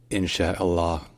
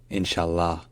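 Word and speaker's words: إن شاء الله: you should know that depending on the dialect some people might say inshah or even inshah because the pronunciation I just gave you is the classical one all right if you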